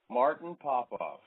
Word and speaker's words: Martin Popoff: Martin Popoff. Pronouncing your name right?